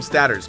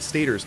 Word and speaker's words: stator: I always call them statters, but they're pronounced stators, yeah.